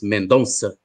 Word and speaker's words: Mendonça: By the way, the C with an accent is pronounced like a double S in Portuguese, so it's Mendonça.